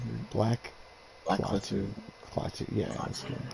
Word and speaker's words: Klaatu: Is how you pronounce it? Black Clathu. Clathu, yeah, that's good.